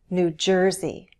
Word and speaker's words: New Jersey: For example, all the states with new have stress on the syllable that immediately follows. New Hampshire, New York, New Jersey, New Mexico.